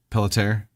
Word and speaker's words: Pelletier: Wait, how do you say the last name again? Caitlin. I forgot. Pelletier. You were right.